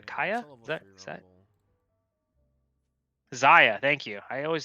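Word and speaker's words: Zyra: This person has a 3-star Kaya. Kaya? Is that? Zaya, thank you. I always say her name wrong, dude.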